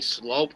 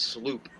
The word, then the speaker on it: Sloop: This is from, I think it's pronounced, I used to say Slope, but I think it's Sloop.